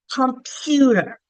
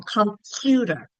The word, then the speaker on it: computer: Like think of the word computer, computer. We can stretch out that stressed or accented syllable, computer. So in computer, that second syllable is stressed.